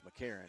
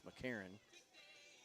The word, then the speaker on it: Mckron: I think it's McCarron and it's spelled Mckron, but it's McCarron.